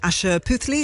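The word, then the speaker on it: Asha Puthli: Asher Puthli, is that how you say her name?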